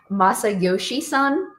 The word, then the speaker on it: Masayoshi Son: So, SoftBank CEO, his name is Masayoshi Son.